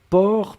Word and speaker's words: porc: vous écrivez p o r c'est d'accord donc port per c'est le sait finale n'est pas prononcé halle est la dernière chose et vous